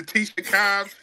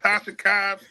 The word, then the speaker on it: Tasha Cobbs: My man was mispronouncing words, giving awards to Tisha Cobbs, not Tasha Cobbs.